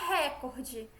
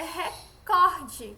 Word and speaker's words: recorde: pudico recorde não é recorde é recorde certo as rubricas intestil certo são palavras paroxítonas certo se eu vi